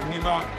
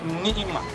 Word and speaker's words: Nima: It's not Nima, it's Nima. Nima? Yes. Okay. But some of the people, they can't pronounce it, and they say Nima.